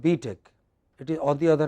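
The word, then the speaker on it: B.Tech: tech yeah it's not b tech it is on the other hand what is it no it is b tech stress on the second don't say beat it but say b tech what is it yeah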